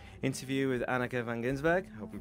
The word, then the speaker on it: Anneke Van Giersbergen: interview with Anneke Van Giersbergen. I hope I'm pronouncing that right.